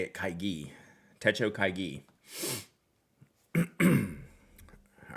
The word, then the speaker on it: Kaigi: so much I appreciate it I meant not kaiji oh kaiji kaigi right Italian thank you I see kaigi Techo